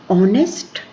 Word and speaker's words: honest: Then handsome, this is not handsome, this is handsome, D is silent here. Height, E. Knife, K. Business, I. Honest, H.